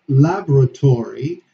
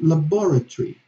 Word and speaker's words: laboratory: Yes, shifting the accent in the syllable, or laboratory and laboratory.